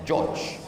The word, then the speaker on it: George: Sampai ke Amerika, berubah tulisannya jadi Georgi. Cara membacanya George.